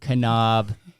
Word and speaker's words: Knaub: guest on today Haley pronouncing the K kenob how are you doing